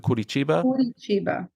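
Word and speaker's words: Curitiba: way can I get some love for the pronunciate the kurichiba that's not bad no say it again kurichiba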